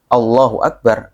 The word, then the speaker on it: Allahu Akbar: Itu kalau dari segi pengucapannya memang harus Allahu Akbar, alif yang pertama, alif pengucapan Allahu Akbar itu harus 1. Kalau 2 jadinya jadi berubah maknanya.